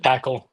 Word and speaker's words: Paql: And then fast forward like 4 more months, you release what is it, Paql? Is that how you yep, pronounce it? Paql. Yep, Yeah. Paql. So it's a mix of paddle and racket.